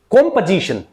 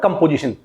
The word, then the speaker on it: composition: Again I am going to repeat how you will pronounce this word. कॉम्पोजिशन, नॉट कंपोजिशन, कॉम्पोजिशन, कॉम्पोजिशन और कॉम्पोजिशन। Now last word, again TION unstress. उससे पहले जो हमारा consonant sound है ने, उस पर हमारा प्राइमरी स्ट्रेस लगेगा।